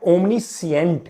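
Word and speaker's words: omniscient: क्या बोलते हैं ओमनी इसमें ध्यान रखना कि इसमें सी जो है वह आपकी साइलेंट रहती है। स्पेलिंग में एस सी आई ई एन टी होता है। लेकिन जब आप बोलते हैं तो ओमनीसिएंट बोलते हैं।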